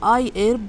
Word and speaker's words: iHerb: Hello there everyone Today i have got new orders from Iherb or i-erb as stated that the H is silent.